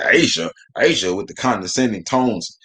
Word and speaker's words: A'ja: can't say it hey y'all can't pronounce a apostrophe j.a asia and then listen to how they react when they find out it's pronounced asia yeah i made it